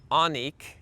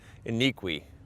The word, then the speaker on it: Onique: This is from Onik, and I don't think I would have figured that out because it's spelled O-N-I-Q-U-E. I would have probably said Iniqui, but it's Onik, so cool, Onik.